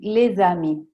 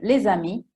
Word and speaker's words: les amis: Non si dirà les amis. I francesi attaccano leggendo e parlando, ok? Les amis, la S, che da sola non si leggerebbe come oramai sapete, si direbbe le, però c'è. Se dietro vi è una vocale, si dovrà collegare con la vocale.